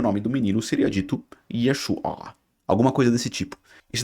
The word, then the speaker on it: Yeshua: observar na escrita hebraica, não é um A, é uma letra Ain, que é uma letra gutural, então você tem que fazer Yeshua.